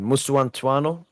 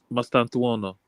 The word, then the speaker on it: Mastantuono: Mustuantuano? Mustuantano? No. Mastantuono.